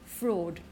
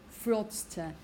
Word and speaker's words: fraud: are committing fraud because with the pronunciation it's a long o sound fraud fraud commit fraud again this